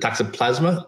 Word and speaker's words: toxoplasma: The toxoplasma, is that the right?